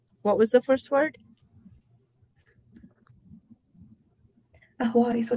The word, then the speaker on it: Ahwari: Ahwari, so it's spelled A-H-W-A-R-I.